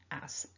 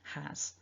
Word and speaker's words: has: sound super correct then make sure you get that h in there has so thinking about the